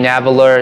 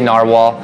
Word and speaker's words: Narwhal: but I still say narwhal and that's how they pronounce it to us so to keep it easy we'll stick with narwhal okay this pen is